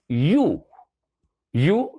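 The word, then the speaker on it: ewe: जो है वो है यू, that means this is the female of sheep, यानी कि सीप का ये फीमेल है। तो इसको जब हम बोलते हैं तो इसकी प्रोनाउंसिएशन यू की तरह होती है।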